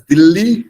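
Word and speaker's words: Delhi: of India new DHI dilhi is also pronounced as Dilly in Hindi hence it is not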